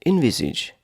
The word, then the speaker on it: envisage: Today's word is envisage. Envisage. Envisage is 3 syllables.